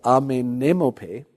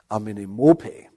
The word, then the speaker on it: Amenemope: By the way, just this is a bit of a tongue breaker, amenemope. That's how I think in the English-speaking world most scholars pronounce the name of this famous sage from Egypt.